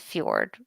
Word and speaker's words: fjord: thrown a small shores sorry that's fjord right not sword i always say like that so i spell it